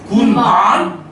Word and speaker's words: 군밤: 밤이죠 그런데 이거는 어떻게까 군밤 군밤 군방 짧게 끊어버려 왜냐면 여기는 지금 첫 번째 글자가 아니잖아 두 번째 음절로가 버리니까 굳이 길게 발음하지 않는다는 거 이해됐다 여기 예외도 있긴